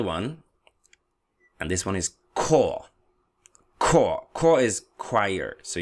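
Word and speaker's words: Chor: and this one is core core core is choir so you see sometimes the C can also be pronounced as a K Dee Dee Vee dama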